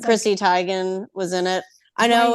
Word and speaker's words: Teigen: It's like Chrissy Teigen was in it. I know right. everyone says Teigen, but I remember that one video where she's like, "It's Teigen."